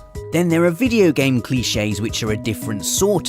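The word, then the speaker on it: cliché: pronunciation of his surname you must be professor klitsch it's cliche cliches aren't just linguistic either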